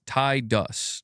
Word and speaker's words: Tidus: Tidus. Tidus. my correct and acceptable pronunciation.